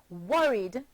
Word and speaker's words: worried: The verb worry, worry, becomes the past tense verb worried and is pronounced worried, having 2 syllables still.